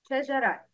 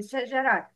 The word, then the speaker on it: شجرة: Ta marbuta is pronounced ha in stopping, like أَذَلِكَ خَيْرٌ نُزُلًا أَمْ شَجَرَةً.